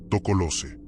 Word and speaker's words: Tokoloshe: Su nombre se pronuncia con cuidado, casi en susurros, Tocolose.